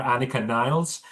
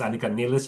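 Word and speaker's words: Anika Nilles: German as well because everyone's calling her Anakah Niles and that's not correct obviously it's Anaka Nis and I think that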